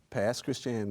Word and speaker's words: Pass Christian: Pass Christian, Mississippi. Say that one more time. Pass Christian, Mississippi. Pass Christian, Mississippi. Right. In the house. It's pronounced Christian. But Christian, yeah, okay.